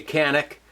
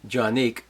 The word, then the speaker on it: Canik: is going to be the johnic tp9sf most Americans say canic I'll uh I'll show you why it's actually jique um doesn't really matter though uh so let's